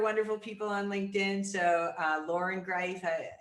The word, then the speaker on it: Loren Greiff: So Loren Greiff, it's Loren Greiff for anybody who understands the Austrian way of pronunciation.